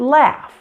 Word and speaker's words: laugh: The same happens with the F sound like the word laugh. Now although laugh is spelled with a gh at the end, it's pronounced F.